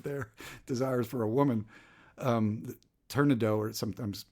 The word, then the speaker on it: Turandot: Turandot, or sometimes pronounced Turandot, Persian queen.